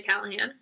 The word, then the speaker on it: Callahan: know how to I don't understand how to pronounce her name American predator by Maureen Callahan that one is actually Callahan a dog's Li home by W Bruce Cameron